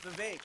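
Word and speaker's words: Vivek: for pum to you my name is V it rhymes with K it ain't about the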